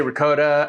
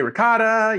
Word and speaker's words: ricotta: You say ricotta and I say ricotta. No matter how you say it, and I say it ricotta, only because that's the way I was taught growing up in an Italian household. You could say ricotta, it doesn't really matter. It's the same thing.